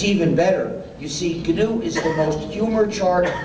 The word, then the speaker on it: GNU: the dictionary please pronounce it you do don't pronounce it new if you say the new operating system you'll